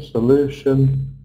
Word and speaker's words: solution: So, like I said, we always stress the syllable before shun. So, pollution, solution, desertification, overpopulation. What can we do about it?